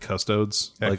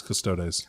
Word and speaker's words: Custodes: important you know I had to train myself not to stay not to state cuss toads and I still slip its custodes and that's why it's our Bey's because exactly because you have to pronounce every vowel they do they do